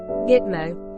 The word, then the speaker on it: GTMO: the 120 square kilometer base, pronounced Gitmo, in Guantanamo Bay in western Cuba.